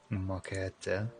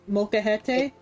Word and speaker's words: molcajete: Molcajete? You're actually closer. It's molcajete. Mo. Ka. He. Te. Yeah, there you go. Oh, so like softer on the te.